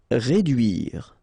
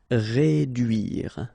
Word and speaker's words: réduire: Réduire. Okay, try to insist on this U here because it can be quite tricky. Réduire.